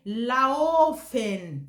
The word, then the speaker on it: laufen: But if you say laufen, that ow, because if you say auto, laufen, you will see this betonung, it will show there for them to understand you very, very well.